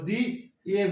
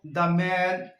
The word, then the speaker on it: the: শব্দের আগে বসে থাকবে সেই শব্দটি যদি কনসোনেন্ট দিয়ে শুরু হয় তবে তাহলে আমরা দা উচ্চারণ করব আর ভাওয়েল দিয়ে যদি